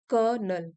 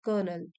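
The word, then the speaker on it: colonel: Spelling भी देख सकते हो आप, इस तरीके से स्पेलिंग होती है और हम इसको प्रोनाउंस करते हैं कर्नल, कर्नल।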